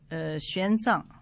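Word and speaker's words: 玄奘: Oui, X prononce Xi en chinois. Alors répétez le titre correctement. Xuanzang.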